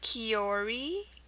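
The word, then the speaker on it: kiore: l e l e e salel um then kiori k i o r e and then h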